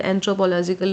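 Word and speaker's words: anthropological: करें तो देखा जाए एंथ्रोपोलजिकल हम पढ़ते हैं बट यहां पे हम ओ साउंड ना आके ई साउंड आ रहा है तो हमें उसके अकॉर्डिंग प्रोनाउंस करना है एंड एल ओ जे पे हमें ज्यादा स्ट्रेस देना है।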